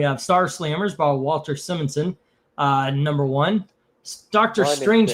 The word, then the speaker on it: Simonson: I At this point I'm I know it's Sim it's Simmonson.